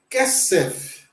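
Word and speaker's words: כֶּסֶף: Lembrando que na regra do hebraico, todas as vezes que nós tivermos dois segols, nós vamos dar a sílaba tônica para o primeiro. Tá? Então, essa palavra nós lemos como kesef.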